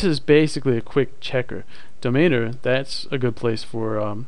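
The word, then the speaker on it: Domainr: annoying but anyway there's great tools online like domainer that's d-o-m-a-i-n-r and another one is don well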